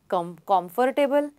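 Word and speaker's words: comfortable: इसका सही प्रोनाउंसिएशन है कम्फर्टेबल कम्फर्टेबल कम्फर्टेबल. बोलिए कम्फर्टेबल. For example, this टेबल इज सो कम्फर्टेबल to work. कम्फर्टेबल नॉट कम्फर्टेबल. आर का sound है ही नहीं.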